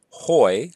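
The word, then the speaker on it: οἱ: accusative singular is Thanh the nominative plural is hoy again the rough breathing mark the accusative plural is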